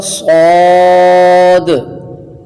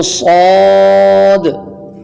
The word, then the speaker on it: صاد: وضاحت کر دوں کہ جب ہم ہجے کریں گے تو صاد پڑھنے میں اس کا آخر حرف دال آتا ہے، اور دال حروف قلقلہ میں سے ہے، لہٰذا اس بات کا خیال رکھیے گا کہ جب ہجے کریں تو صاد نہیں بلکہ صاد، وہ دال جو آخر